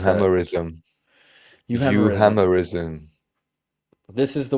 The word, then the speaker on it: euhemerism: How do you pronounce that? Euhemerism.